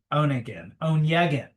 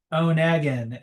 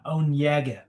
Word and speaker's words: Onegin: And apparently, Onegin is not right. It's more like with an Inya, Onegin, Hmm.